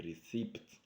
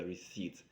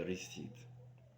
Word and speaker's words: receipt: Be careful, it's not a receipt, it's a receipt. We swallow the P, you don't pronounce the P. A receipt.